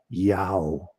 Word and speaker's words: Yahweh: And uh Yahweh was spelled in Greek iota um alpha omega, which pronounces yao, which is the sound that a donkey makes when it's praying.